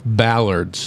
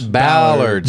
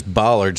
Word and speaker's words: bollards: to look it up today Barbers no it's ballards ballards but it's spelled to post it's spelled bowler like b-o-l-l it's actually pronounced they're ballards yeah see I read it as bollards and I'm like man isn't that what they